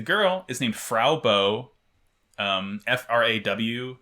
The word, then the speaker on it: Fraw: And the girl is named Frau Bow, Fraw, not Frau, which is how you would expect Frau to be pronounced.